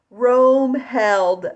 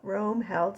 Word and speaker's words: Roemheld: the show today we're going to talk about Rome held syndrome if you don't know how to spell it or you never heard of that like